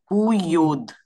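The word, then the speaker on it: Puyoda: Pyoda. Puyod.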